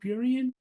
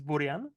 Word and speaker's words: Burian: Is it Burian? It's not going to be Close enough. Burian, is it? Like That's not going to be. it's close enough. I think like it's Czech pronunciation is Burian, but Okay, obviously because it's like brilliant.